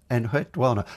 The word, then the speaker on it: Enheduanna: I should say I can remember how to pronounce her name from Cyndi Lauper, from Girls Just Gotta Have Fun. Just wanna. Enheduanna. That gives you the right kind of intonation, I feel.